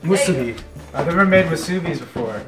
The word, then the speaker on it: musubi: So, I can spam msubis. That's not how you say it. Musubi.